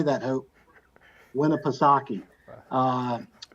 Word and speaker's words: Winnipesaukee: Winnipesaukee.